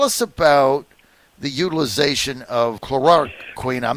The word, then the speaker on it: chloroquine: Tell us about the utilization of chloroquine.